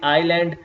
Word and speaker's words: island: will say pneumatic and when s and L come together you will not read s like we say island Isle and islet in